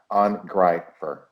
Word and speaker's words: Angreifer: Pronounce the EI as a hard R, as a hard I. Angreifer.